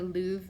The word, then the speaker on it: Louvre: look at number 11 that's the lube it's pronounced the Louvre museum in Paris France and number 11 says